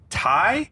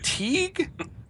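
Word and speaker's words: Tighe: like that we got kevin thai kevin ty i think it's pronounced tai kevin teague i don't know he was in another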